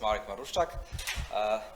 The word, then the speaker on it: Marek Maruszczak: Okay, so we pronounce correctly, more or less. It's Marek Maruszczak.